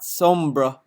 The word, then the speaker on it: Sombra: Dark Side Phil, it's pronounced Sombra, not Sombra.